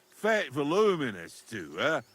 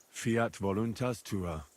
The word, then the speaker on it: Fiat voluntas tua: You're saying it wrong. Listen. It goes like this. Pater noster, qui es in celis, Sanctificator nomen tuum. Adveniat regnum tuum. Fiat voluntas tua.